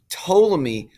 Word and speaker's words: Ptolemy: bc to 100 a.d ptolemy silent p ptolemy is the first guy